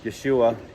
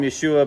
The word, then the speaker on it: Yeshua: and it's stuck okay i just call him yeshua because that's the hebrew pronunciation because of the letter